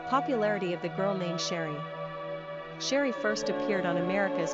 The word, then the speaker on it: Cherie: Pronunciation, Cherie, S-H-R-E.